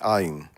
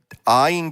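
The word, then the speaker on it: עין: But Ayin does not have a consonantal sound of its own. It takes on the sound of the vowel point that it's connected to, and whatever the word may be.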